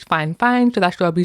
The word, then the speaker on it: Fifine: So, obviously, if you're looking at the writing, it looks like five fine, but I guess it's fine fine.